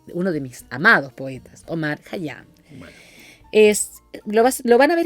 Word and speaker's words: Omar Khayyam: Es uno de mis amados poetas, Omar Khayyam. Bueno. Lo van a ver escrito seguramente con K y H, pero se pronuncia como una J con una K adelante.